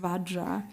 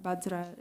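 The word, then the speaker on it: vajra: than others I think I'll just add B bansar is more the the badra is badra bza is more Tibetan pronunciation badra is sanskrit right so he said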